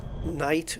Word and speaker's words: night: Like night, like we spell it Night, where the G is silent.